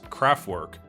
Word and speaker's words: Kraftwerk: For the rest of the video, I will continue pronouncing their name Kraftwerk as Kraftwerk, the typical English pronunciation.